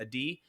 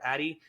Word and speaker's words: Adi: He's married to one of the most amazing women in the world named Adi. Adi, who I mispronounce her name all the time. I call her Addie.